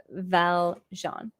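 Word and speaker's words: Valjean: Uh, Apollo Jean, for Americans, you pronounce it Val Jean.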